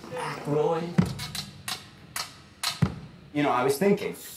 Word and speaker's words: Aykroyd: Chevy Chase, Gilda Radner, Dan Ayika. How the fuck do you pronounce this? Aykroyd.